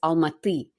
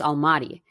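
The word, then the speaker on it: Almaty: the English pronunciation because in Russian it's almati and in English it's almati. It it sounds very different.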